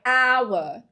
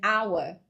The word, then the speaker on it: hour: when you pronounce our you kind of pronounce it with silent h you kind of starts with o right hour. So that's why it's a house but it's an hour.